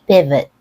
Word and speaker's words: pivot: how you pronounce sounds you just want to avoid thinking of that as an o sound and rather as a reduced vowel let's hear it from